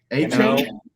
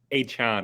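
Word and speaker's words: Achane: Devon A-Chain? Nope. I learned today. Devin A-Chain? No, it wasn't A-Chain. It was whatever the A-Chan, I think it was.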